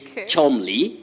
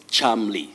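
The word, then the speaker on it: Cholmondeley: you can also say chumley chumley but the acceptable or the standard pronunciation of that name is charmly so charmly or chumley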